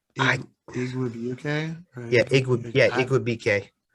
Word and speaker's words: Igwebuike: Oh, Yeah, it's I Igwebuike. yeah, Igwe Igwebuike.